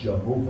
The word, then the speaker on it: Jehovah: So the word Yahweh and Yehovah are, or I guess we can say it the way Americans do Jehovah, because you hear it that way. The actual pronunciation is Yehovah.